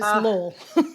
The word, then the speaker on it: Lowell: Do you say Lowell? Did I say Lowell? Sorry. Yeah, no, yeah, it's Lowell.